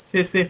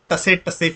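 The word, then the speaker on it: tsetse: This fly is called as sese fly. Sese. Okay. So sese fly, or if you want to remember, tase fly. Okay, whatever. Tase fly. See, this T is silent here.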